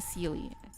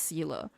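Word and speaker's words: Seele: do I call her sely you know when she first came out I'm like sely really s but no she's her name is pronounced Sila and I'm like why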